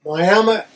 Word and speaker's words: Miami: Did I say it right? Miami is what the locals say.